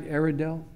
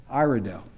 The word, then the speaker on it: Iredell: And am I pronouncing right, Iredale? Iredale.